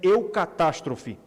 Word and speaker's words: eucatastrophe: Ele criou um termo criou uma palavra que em português se pronuncia eucatastrophe eucatastrophe eucatastrophe significa uma